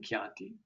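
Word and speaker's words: Chianti: this we have keti as in the wine kianti Orchestra or orchestra as we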